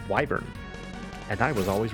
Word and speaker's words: wyvern: A wyvern. Here's a question. People out there, did you pronounce that word as wyvern or wyvern when you were growing up? I always said wyvern, and I was always wrong.